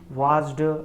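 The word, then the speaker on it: watched: Looked करके, वाच्ड और वाच्ड करके। तो एक्चुअली में इसको ड ना प्रोनाउंस करके ट प्रोनाउंस किया जाता है।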